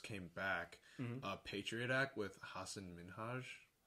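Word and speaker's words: Hasan Minhaj: back, Patriot Act with Hassan Minhaj. It seemed like you pronounced that wrong. Am I wrong? No, Wait, that's how that's how he pronounces it.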